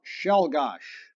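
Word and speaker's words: Czolgosz: Pronounce Shelgosh.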